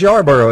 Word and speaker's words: Yarborough: So Alex Yarborough is up next, right?